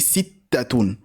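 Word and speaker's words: سِتَّة: On dit Sittatun, pas Sittatun. On dit Sittatun. Arba'atun, Khamsatun, Sittatun. Très bien, donc on va essayer de répéter les chiffres.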